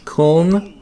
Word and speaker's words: Köln: Köln, I think it's pronounced that.